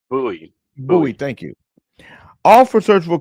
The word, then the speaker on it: Bowie: It's Bowie. pronounced Bowie.